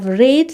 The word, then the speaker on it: read: দেখো রিড ভার্বের পাস্ট আর পার্টিসিপল ফর্মে স্পেলিংটা কিন্তু সেম থাকে, READ, কিন্তু এখানে কিন্তু প্রোনাউন্সিয়েশনটা চেঞ্জ হয়ে যায়, সেটা কিন্তু হয়ে যায় রেড।